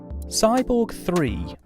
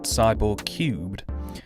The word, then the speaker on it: Cyborg 3: Cyborg 3, written but never pronounced Cyborg Cubed, is a 1994 action